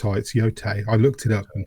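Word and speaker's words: Yōtei: I keep saying yay. It's yote.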